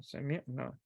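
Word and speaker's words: سمعنا: Be careful with the pronunciation. Sami'na.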